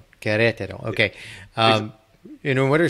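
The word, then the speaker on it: Querétaro: So I'd love to hear why you, and can you pronounce the name of the town again? Sure, Queretaro. Queretaro.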